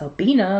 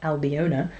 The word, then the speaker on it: Albina: And I learnt that her name is pronounced Albina, not Albiona.